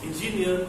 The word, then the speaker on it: engineer: So engineer, the focus stress is on the last syllable.